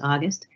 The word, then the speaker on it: Auguste: the people we serve and yes you did pronounce my name correctly roy it's my last name is august and i am the founder of august research